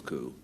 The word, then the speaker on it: coup: it and the potteries a coup is pronounce cool it's not is uh